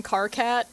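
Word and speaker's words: Karkat: Uh I always think about the I think I think they're named John Carcat after the Homestuck character Carat. So, it's spelled like Kit Kat, but it's Car Cat.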